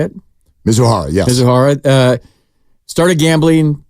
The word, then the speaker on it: Mizuhara: interpreter mizuhara is that how you say it mizuhara yes mizuhara uh started gambling the debts got